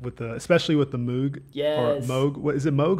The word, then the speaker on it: Moog: Moog I think it's Moog but it's I mean with two o's you'd think it's moo maybe I'm from Great